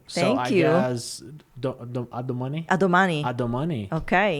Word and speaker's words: a domani: A domani.